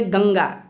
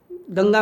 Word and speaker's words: गंगा: यह ध्यान में रखेगा अनुस्वार का उच्चारण जब भी होगा हवा नाक से निकलेगी जबकि अनुनासिक के उच्चारण में हवा नाक और मुंह दोनों से निकलती है तो जैसे गंगा गंगा में अनुसार लगा है गंगा आप बोल कर देखिए ध्यान से एकदम गंगा तो हवा नाक से सिर्फ निकलेगी लेकिन